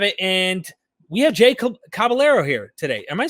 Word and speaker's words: Caballero: How do we pronounce it? Caballero. Caballero.